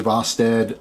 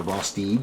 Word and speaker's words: Vosteed: This is a Vosteed knife, or Vosteed, excuse me, whatever, you know me, in pronunciations.